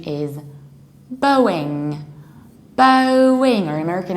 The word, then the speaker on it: Boeing: the correct pronunciation is Boeing Boeing or American accent Boeing Boeing Boeing like David Bowie Bowie Boeing as simple